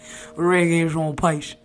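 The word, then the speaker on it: Regé-Jean Page: Are you also hearing me pronouncing here, guys? Don't tell me I'm not international. Reggae Jean Page.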